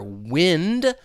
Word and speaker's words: wind: Like these words down here, wind like the wind is blowing or wind like you're winding a clock.